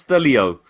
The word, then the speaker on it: Stelio: Stello. Sorry, you have to. It's pronounced Stelio.